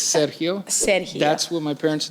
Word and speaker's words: Sergio: friend attorney Sergio Serio if you pronounce it correct it's Serio Serio that's what my parents named me but